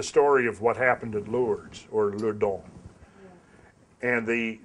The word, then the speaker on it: Lourdes: of Liu dal was it's actually the French pronunciation most of us in America say lures but it's Liu dong